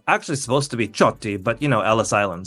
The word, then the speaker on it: Ciotti: Italian it's uh actually supposed to to be chy but you know Ellis Island so my own